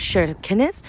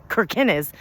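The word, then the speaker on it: Kirkenes: being out in Norway and uh it's called shines so it's spelled k i r ke n so we were pronouncing it Kines but it's shines with a sh like that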